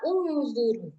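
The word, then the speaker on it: انظروا: Nah, di sini ada Hamzah wasal, maka bacanya unzuru.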